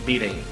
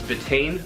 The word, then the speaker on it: betaine: be covering beating now I used to pronounce this betaine but I figured since I was going to be making a video about it I should probably look up the proper way to say the word bathing which is a lot